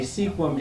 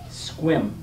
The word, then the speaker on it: Sequim: By the way, sequim is pronounced squim. What are we talking about now? It's not sequim, it's not pronounced sequim, it's pronounced squim.